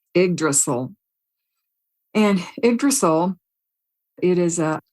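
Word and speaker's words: Yggdrasil: but in the Norse Smiths it's called called igdrasil it's spelled y g g d r a s i l igdrasil and igol it is a archetypal symbol of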